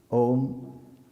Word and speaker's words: Aum: Om is divided into three syllables normally. A, U and M. Ma, when you chant Om it's only Um.